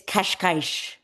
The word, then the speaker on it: Cascais: is Portuguese, and she Ah, says it's Cascais. I think I said it right. You know how I like to pronounce words in different languages and names.